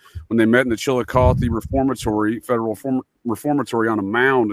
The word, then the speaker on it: Chillicothe: You know, they said that that is legitimately where Chillicothe, isn't that how it's pronounced? Chillicothe? Chillicothe, sir.